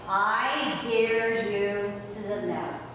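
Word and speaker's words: idarucizumab: Now I'm going to say this very slowly, and I was told how to say this. I dare you, Sismab.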